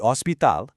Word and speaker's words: hospital: We have the estasion policia, the police station, theatro, the theater, the hospital, spelled exactly the same as in English, but remember with a silent h, the marcado, the market,